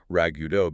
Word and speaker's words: ragout: But etymologically, you get that completely non-phonetic pronunciation, ragout, because it's a direct lift from the French word ragout.